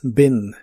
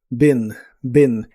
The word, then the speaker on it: been: En el pasado participo, es ben se pronuncia con la i corta, ben y equivale a las